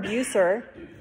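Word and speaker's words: Bucer: were married by martin how do you say his last name phil beusser yeah it's not spelled that way but martin beusser is who married them if you've heard his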